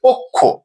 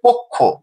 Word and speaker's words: পক্ষ: শব্দটির উচ্চারণ হবে পক্ষ। পক্ষ। কেননা আমরা তিন নম্বর নিয়ম অনুযায়ী দেখছি আদি অ এর পরে অ এর সাথে অকার রয়েছে। এরপরে খিও আছে। তাহলে অটি ও রূপে উচ্চারিত হচ্ছে।